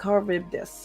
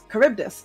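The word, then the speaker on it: Charybdis: oh thank you nii it's pronounced caribdis caribdis oh I learned a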